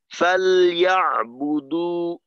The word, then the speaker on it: فَلْيَعْبُدُ: আচ্ছা আসাদ ভাই, জি এই যে এইখানে ফালিয়াবুদু, এখানে লামের জজমটা কিন্তু একেবারেই স্পষ্ট করতে হবে, অন্যথায় যদি লামের জজমটা একটু অস্পষ্ট হয় তখন কিন্তু জের বোঝার সম্ভাবনা আছে।